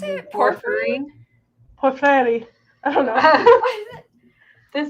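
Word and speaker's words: porphyry: It is pronounced pfery.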